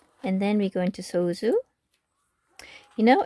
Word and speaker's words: soju: And then we go into Soju. You know, it's actually in Korean, it's not Soju, it's Soju, like a more of a J sound.